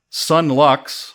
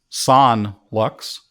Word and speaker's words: Son Lux: Musical score created by 3 different people, all members of a band called Sun Lux, or maybe pronounced Son Lux.